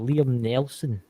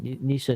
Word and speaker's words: Neeson: If Liam Nelson, what is that? Neeson. Liam Neeson. That's I couldn't pronounce that there.